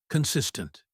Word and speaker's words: consistent: Word one, consistent. It means doing something regularly without stopping. Example, I am consistent with my practice. Pronunciation tip. The stress is on the second syllable. Consis tent.